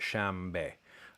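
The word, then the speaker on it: شنبه: And what happens is you get a nasal voiced labial. So you get shambe.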